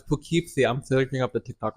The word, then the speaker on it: Poughkeepsie: And when I'm back in Poughkeepsie, I feel it. I don't think you're Y'all. saying it right. No, it's Poughkeepsie.